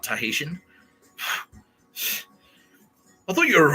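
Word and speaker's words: Tahitian: know what I mean you said tahitan not tahesian I thought you were a writer you can't even spell esophagus.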